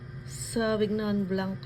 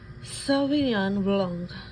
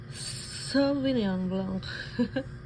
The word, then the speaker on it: Sauvignon Blanc: Sauvignon Blanc lang yung basa ko. Pero dapat ganito siya. Sauvignon Blanc. Sauvignon Blanc.